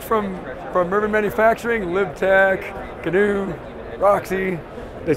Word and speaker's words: GNU: And it had the pronunciation new, but I went, I'm going to call it GNU.